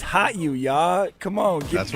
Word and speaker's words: HOTU: been pronouncing it wrong it's not hotu it's hot you y'all come on that's